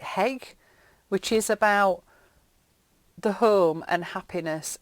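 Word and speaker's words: hygge: I think it's called I think you pronounce it heg which is about the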